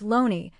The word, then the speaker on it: Looney: Thomas Looney, a name pronounced Loney, to the enduring frustration